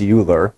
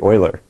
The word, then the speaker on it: Euler: I thought well that's kind of funny she pronounced Euler as Uhler right it's actually Euler but then I thought a little more about